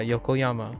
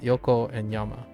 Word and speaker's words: Yokoyama: And I think Yokohama, I keep forgetting. I'm sorry. I keep getting the one syllable. Yeah, Yokoyama. So Yoko and Yama. I'll have to remember that. So Yokoyama, I personally remember reading some interviews about 5, right?